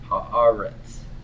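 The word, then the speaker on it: הארץ: in fact there are do you listen to the pronunciation of this word it's ha-ah Rhett's Haaretz ha ha rats 1 2 3 1 2 3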